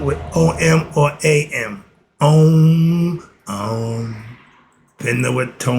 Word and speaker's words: Om: It can be spelled with O-M or A-M.